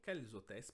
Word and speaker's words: quels hôtels: Somente aqui, nesse caso, porque o H é mudo, então, e ele precede uma vogal, então a gente vai fazer la liaison.